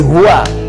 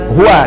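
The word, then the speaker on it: هو: hu ini singkatan dari hua hua dari mana tahunya singkatan karena kalau kita wakaf dalam kalimat Hua kita enggak baca Hua bacanya hu ya Quran surah keed2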